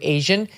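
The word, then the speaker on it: ASEAN: she was talking about it is actually pronounced closer to Asian it's this group of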